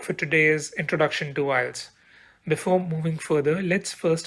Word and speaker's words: IELTS: The topic for today is Introduction to IELTS. Before moving further, let's first understand how do we pronounce this. I've heard many people mispronounce it, but don't worry, I'm here to help. It is IELTS.